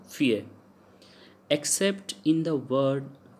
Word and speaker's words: fille: Then fie means a girl, fille, so ill pronounced as y, so fie.